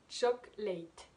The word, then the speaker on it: chocolate: que c'est en fait est une lettre muette que l'on n'entend pas elles se prononcent pas par exemple chocolate choc light je vous mets trilogie des images là vous expliquer un petit peu donc au début il ya trois syllabes et ensuite à